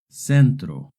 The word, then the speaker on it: centro: Remember, if the C is followed by an E or an I, it makes a soft C sound. Centro.